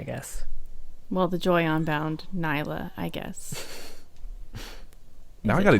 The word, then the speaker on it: Nilah: about the joy onbound Nila Nyla Mila's how the casters pronounce it so I'm gonna trust him on this one I know she says her own name oh my gosh and I think it's Nyla okay so we were